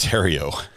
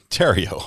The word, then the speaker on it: Theriault: Theriault is pronounced Terrio. Terrio.